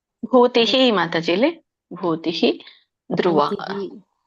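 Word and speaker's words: ಭೂತಿಃ: ಕೃಷ್ಣೋ ಯತ್ರ ಪಾರ್ಥೋ ಧನುರ್ಧರಹ ತತ್ರಶ್ರೀ ವಿಜಯೋಭೂತಿ ಧ್ರುವನಿತಿರ್ಮತಿರ್ಮ ಭೂತಿಹಿ ಮಾತಾಜಿಲಿ ಭೂತಿಹಿ ಧ್ರುವ ರೇಣುಕ ಮಾತಾಜಿ ಹರೇ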